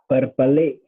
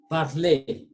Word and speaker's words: parler: RE is the same as A with acute accent, okay? And it's the same as ER, pronounced as A, and the same as ET, and the same as EZ. As simple as that, all